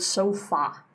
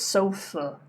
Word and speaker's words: sofa: Again, you do not pronounce this word sofa. It's sofa.